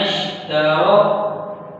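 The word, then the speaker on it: اشْتَرَوُا: ठीक है, आगे नून को शीन के साथ मिलाना, जिस तरह मैं नश, नश, तारो, ता है और रा के साथ रा है, रा को हमने मोटा करके पढ़ना है।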